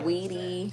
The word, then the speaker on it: Saweetie: Saweetie. Oh. Is that how you say it? Am I saying it right? Sweetie. You said it right. Okay. Because that's how it's spelled.